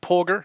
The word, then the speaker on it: Polgar: We'll come back to those few individuals, but then is it Polgar? Is that how you pronounce the chess Yes, prodigies?